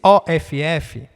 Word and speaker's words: of: Quando você tem um OF, né, que significa um D em inglês, é of, como se você estivesse indo pronunciar ovo, né, ovo, mas um O mais aberto, of, certo?